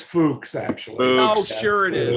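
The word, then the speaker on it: Fuks: Fuck. Yeah. Fuck. Yeah. Okay. Fuck. That's the guy's name. Fuck. Right. Is that how you say it? It's Fuchs, actually.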